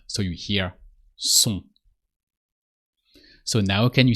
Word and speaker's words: sont: With they, if you want to say they are, the R of they are is sont. So S-O-N-T, but the T is silent. So you just say sont.